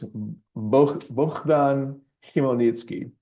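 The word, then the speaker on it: Bohdan Khmelnytsky: Locker to help me pronounce it and it's B ban kitki how he pronounced that and that's him um he was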